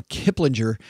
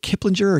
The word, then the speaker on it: Kiplinger: First headline comes to us from Kiplinger. I never know if is it Kiplinger or Kiplinger. I prefer the soft G.